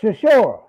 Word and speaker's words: Chisora: Oh, Berkshire Shore. Say again. Berkshire Shore. No. What's this boy's name, man? It got to be Berkshire Shore. Say his name again. Dirk Chisora.